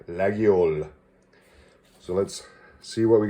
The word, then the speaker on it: Laguiole: that store and he created corrected my initial pronunciation because it was terrible so he taught me how to say laggiol so let's see what we got here there